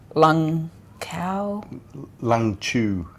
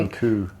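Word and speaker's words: Lũng Cú: We're on our way to Dong Van, but we actually went to the Lung Chu. Oh, Lung Chu, is it? Sorry. Lung Ku.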